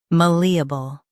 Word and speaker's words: malleable: Today we will learn how to pronounce the word shown on the screen, malleable. Both US and UK have the same pronunciation of this word. Stress li. Keep a light and bl soft.